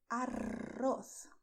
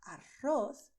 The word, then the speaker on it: arroz: It's a little different when you say arroz, because with arroz, you're expelling the air. And when you do so, your tongue is going to tremble and is going to vibrate, which is why you have this arroz sound, which is done with the tip of your tongue, touching the front teeth, but vibrating when you expel the air.